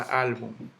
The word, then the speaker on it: álbum: La palabra álbum, como no termina en ese vocal y el golpe de voz está en la al, yo le pongo su tilde.